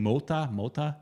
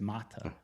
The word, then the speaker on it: Mota: I was asking my wife how to say it, and I was saying Mota, but she said it's Mata.